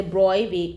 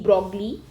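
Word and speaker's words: de Broglie: by the way uh this pronunciation is the BR uh not the broi as many of you might have learned in your school okay so all of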